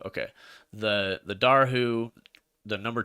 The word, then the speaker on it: Dobhar-chu: How do we pronounce it again? I'm just gonna Dobhar-chu. Dobhar-chu. Okay. The Dobhar-chu, the number 2 Dobhar-chu notices the man and